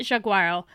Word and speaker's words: Jaguaro: Okay, I looked it up, and apparently the J in Portuguese is pronounced J, not Y, like in Spanish. My bad, you can call it Jaguaro, but not a hard J, a soft A. It's Jaguaro, not Jaguaro, at least according to